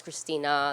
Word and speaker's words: Christina: is always telling people no it's Christina there's an A on the end no no no it's